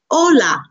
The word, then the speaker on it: hola: good good Akshay Akshay H is silent so when you're saying a word with the letter H it would say hola you would not say